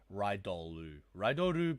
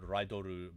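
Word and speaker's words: リドール: It says Rider base, but it's actually it's pronounced Ridoru base. So Desire Driver Ridoru base.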